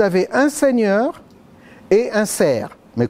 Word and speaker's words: serf: un seigneur et un ser mais quand je dis un ser ça s'écrit s e r f on pourrait dire un serf mais et après dans